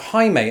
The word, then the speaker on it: Jaime: We also have Jaime, and at the same call centre, when I read that name for the first time, mispronounced it as Jamie.